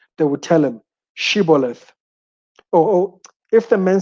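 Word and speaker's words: shibboleth: i'm not they would tell him to say shiboleth if he was from ephraim he would say if he was from ephraim he would say siboleth because people from ephraim cannot pronounce the word correctly then they would take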